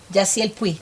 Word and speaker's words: Yasiel Puig: His name is, I don't know if I can pronounce it properly, Yasiel Puig. Jaciel Puig, yes.